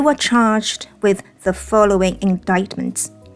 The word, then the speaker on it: indictment: 要注意，就是这个 C 是不发音的。在念饱满的时候呢，念 indictment，但是我们